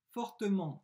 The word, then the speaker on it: fortement: avant et elle rit fortement c'est un adverbe ent je prononce en elle rit fortement phrase